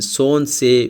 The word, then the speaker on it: Солнце: Here in Здравствуйте we do not pronounce the first V, and in Солнце we do not pronounce the letter L.